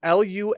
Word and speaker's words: Lumineux: That's Lumineux. And remember, it's spelled with an X, so you can X out the harm.